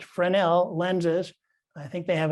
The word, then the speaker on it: Fresnel: as kay to the fresno lens collection at the training center yorktown um yes the training center in yorktown where they teach aids to navigation has a really good collection of actually pronounced fresnel lenses i think they